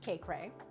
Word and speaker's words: Kaycreigh: Kaye or K Cray, there's two online. So, mine is EI GH like that. It's a combination of my first and last name. Um, but it's pronounced K Cray.